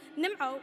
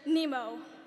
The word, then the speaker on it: Nimo: In typical American fashion, people mispronounce my name, Nimo, with their favorite Disney fish, Nemo.